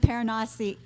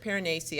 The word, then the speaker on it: Piranesi: Paranasi is, how do you say it? I pronounced it Piranesi. I think that's how the author said it.